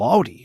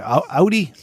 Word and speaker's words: Audi: Beautiful Audi. Okay. Audi.